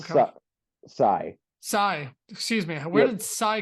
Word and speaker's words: Scy: Psy, excuse me. Where did Psy come from? It's just another pronunciation of scythe.